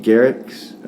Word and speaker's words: Gerics: II are ICS and it's a hard G garrix but it's a write-in